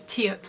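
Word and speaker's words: 티읕: sound so the next character is this one which is tiat which is a hard t sound and we're assigning this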